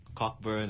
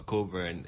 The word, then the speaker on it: Cockburn: Cockburn or Coburn, it depends on how people pronounce it, but Cockburn Street.